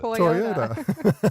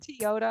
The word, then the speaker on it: Toyota: Well, how do you pronounce it? Toyota. What did I say? Teayota.